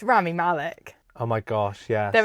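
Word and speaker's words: Rami Malek: other is Ramy Malik Ramy Malik actually is how you say his name he played Freddy Mercury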